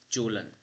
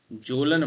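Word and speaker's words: Kjølen: Jolan Jolan mountain ranges. Okay, K is silent.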